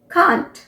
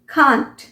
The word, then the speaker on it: can't: First word है CAN'T, कांट। कांट British pronunciation है कांट, जबकि अमेरिकन प्रोनाउंसिएशन कैंट। कैंट।